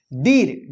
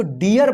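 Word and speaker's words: deer: अब देखिए य पे डीर डबल ई है तो ई नहीं पढ़ा जाएगा इसको डियर पढ़ा जाएगा डियर डियर ठीक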